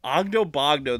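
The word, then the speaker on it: Oggdo Bogdo: I think it's Ogdobogdo. Ogdobogdo, that's it.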